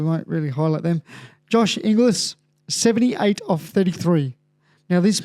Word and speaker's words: Inglis: And, Josh Inglis, famously known for people not knowing how to pronounce his name, Inglis.